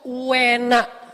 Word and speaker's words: uena: Kalau enak tuh orang Jawa bilangnya enak, tapi kalau enak banget uena. Jadi ada u-nya dulu, bukan enak tapi uena.